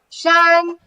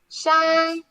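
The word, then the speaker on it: 山: Shan. Shan.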